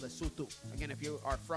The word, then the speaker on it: Lesotho: I I've been told multiple times that it's pronounced Lesotho, not Lesotho.